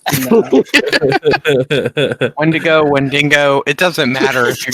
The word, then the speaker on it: Wendigo: When to go? No. Wendigo, it doesn't matter if you're getting your fucking...